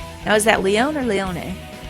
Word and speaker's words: Leone: Now, is that Leon or Leone? If we're pronouncing it like the Japanese way, then they would say the ne at the end.